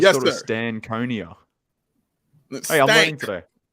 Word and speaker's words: Stankonia: So it's pronounced Stankonia. So I always Yes, thought it was sir. Stankonia.